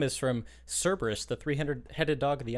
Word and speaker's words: Cerberus: I was reading that wrong because it's a K. I was pronouncing it with a hard, fucking. You know yeah, what I mean? Cerberus instead of. Gotcha. Instead of Cerberus.